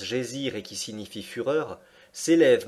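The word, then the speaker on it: Geysir: une hauteur de 10,3 le geyser mots que les islandais prononce gésir et qui signifie fureur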